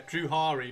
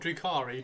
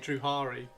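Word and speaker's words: Drukhari: Yeah, Druhari. Not Drukari, Druhari.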